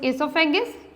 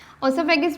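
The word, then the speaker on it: oesophagus: Second one is pharynx, third one इज इसोफेगस, इसको दोनों तरह से ही प्रोनाउंस कर सकते हैं, ओसोफेगस भी कह सकते हैं आप, इसोफेगस भी कह सकते हैं, दैट डजंट मैटर।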